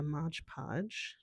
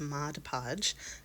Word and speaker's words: Mod Podge: So, we'll see how that Hello, this is editing me and yes, I am pronouncing Mod Podge incorrectly. It is Mod Podge.